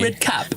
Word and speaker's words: Bigredcap: Bigredcap. Yeah, well, I just keep saying one word. One word, 3 syllables.